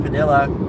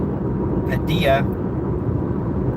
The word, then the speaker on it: Padilla: coworker she told everybody her name was pronounced Padilla and everyone still keeps pronouncing it Padia and she just today